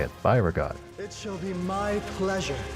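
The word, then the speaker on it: Byregot: Byreot.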